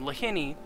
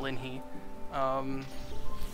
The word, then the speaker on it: Lahini: So thank you, Lahini, who I just realized I've been mispronouncing your name, Lahini, not Linhee, for being willing to accommodate me on that.